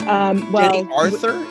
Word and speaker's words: Aurthur: And it's Jenny Aurthur?